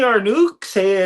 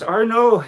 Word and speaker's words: Arnoux: Next thing, Arnuk. I was like, "Oh, they said my name wrong, but I'll answer it anyway just to correct them." Yeah, it's Arno.